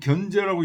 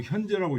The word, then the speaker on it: 현재: 몸으로 인해서 인 현재 견제라고 읽으면 안 되고 현재라고 읽어야 돼요 현재 소고집이 현재 거하고